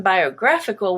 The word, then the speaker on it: biographical: also be green biography but in biographical which is the adjective it changes to become the a the stressed and now the a is no longer a schwa but it is black biographical abnormal is orange but